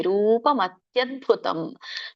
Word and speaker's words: ರೂಪಮತ್ಯದ್ಭುತಂ: ಪದ ಕೂಡಿ ಹೇಳಿ ರೂಪಮತ್ಯದ್ಭುತಂ ಬಿಡಿಸೋದಾದರೆ ರೂಪಮತಿ ಅದ್ಭುತಂ ಅಂತ ಹೇಳಬೇಕು ರೂಪಮತಿ ಇದ್ದಿದ್ದು ಆ ಸ್ಪ್ಲಿಟ್ ಆಗುತ್ತೆ. ತಿ ಅಂತ ಹೇಳಿ ಹಿಂದಿನ ಅಕ್ಷರಕ್ಕೆ ಹೋಗುತ್ತೆ ಅ ಅಂತ ಮುಂದಿನ ಅಕ್ಷರಕ್ಕೆ ಹೋಗುತ್ತೆ ಇದು ಸಂಧಿ ಒಂದು ಸಂಧಿ ಆಗಿರೋದ್ರಿಂದ ತ್ಯ ಅಂತ ಬಂದಿದೆ ಅಷ್ಟೇ ಅಲ್ಲಿ ಸೋ ಹಾಗೆ ರೂಪ ಮತ್ಯದ್ಭುತ